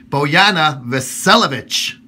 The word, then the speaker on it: Bojana Vasiljevic: joined right now on Skype by the lovely boana velovic did I say it right yes okay all